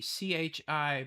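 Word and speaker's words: qi: Uh okay, it's it's Chi c h i, but in in China they write it q i. Yep. Okay. And it's pronounced Chi.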